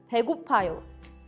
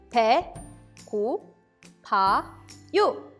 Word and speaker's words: 배고파요: Let's first practice the pronunciation of 배고파요. 배, 고, 파, 요. 배고파요.